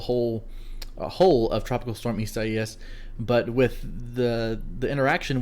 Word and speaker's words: Isaias: imagery of tropical storm east ies again it's pronounced is the spanish pronunciation of the name isaiah it's a biblical name